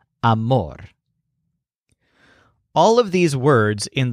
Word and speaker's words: amor: we identify as love his word for love simply stresses the syllable more amor all of these words